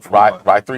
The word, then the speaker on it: Ry3: But Ry3 is what we call this. Mhm. Ry3, right? RY. The E is backwards in the Or just Rye? in 3. Ry3. Yeah, kind of. Yeah, Ry3, RY3, right?